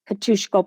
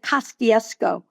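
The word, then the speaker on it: Kościuszko: As a child, we called it Kostiesko because we would pronounce it phonetically. I had to get to Poland to actually know the name of the park that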